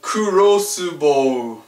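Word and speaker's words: クロスボウ: Here we have kurosubo, which surprisingly doesn't have an elongated u sound at the end. It just kurosubo, which is, as you might have guessed, a crossbow.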